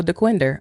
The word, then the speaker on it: DeQuinder: Said Google said it's pronounced to rhyme with Tinder. Tinder. So DeQuinder.